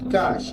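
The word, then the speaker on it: kaax: Well, amigos, cash. Exactly that same pronunciation, the same way in Mayan means chicken. Yes, if you pronounce cash over here, people will understand chicken.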